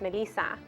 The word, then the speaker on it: Melissa: years old and uh my name Melissa in Spanish is pronounced Melissa and my brother couldn't